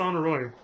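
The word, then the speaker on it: Honoroit: See, so when we first started, I always said Honora, and I was like, maybe it's Honoroy. And then finally he, got an actual voice actor and he said Honora, and I was like, fuck, I was saying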